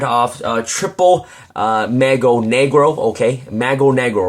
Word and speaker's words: Mago Negro: It's not Magro Negro, it's Mago Negro. I believe that's how you pronounce it, and that means Black Magician in Spanish and Portuguese.